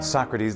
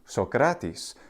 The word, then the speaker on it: Socrates: of those vowel changes it goes then to Socrates which is the same pronunciation it has in modern Greek a uh a Socrates